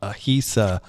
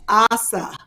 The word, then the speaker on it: Ahisa: Kym is going to tell you all about Ahisa bags, I believe. Asa. It's Asa. Asa. That's what it says. HISA.